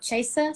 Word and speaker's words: Chasa: of a made-up name it is spelled with the a at the end like chase but with an a mm-hmm mom thought it